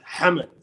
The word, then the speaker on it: Hamad: when I the correct what's the correct pronunciation of your name it's hammed hammed it's impossible to say